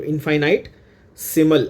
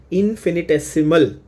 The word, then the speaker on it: infinitesimal: इनफाइनाइट, ध्यान से देख लो, इनफाइनाइट सिमल ऐसा है, बट the pronunciation is इनफिनिटेसिमल।